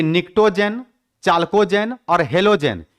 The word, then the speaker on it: Pnictogen: निक्टोन क्या नाम है निकटो जन जहां पी साइलेंट है पढ़ते हैं निकटो पी